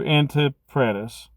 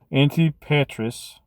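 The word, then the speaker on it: Antipatris: him to the to Antipratus. I just pronounced that wrong because my brain just saw the R in the wrong spot. Antipatus. There we go.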